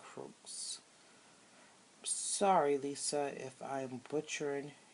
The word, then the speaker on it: Croix: I think it's French, and usually in French the X is silent, so Tarot de St. Croix.